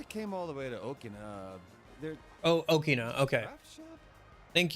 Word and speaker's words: Okina: Since I came all the way to Okina, there... Oh, Okina, okay. Thank you, Kanji. I will attempt to memorize that and pronounce it correctly.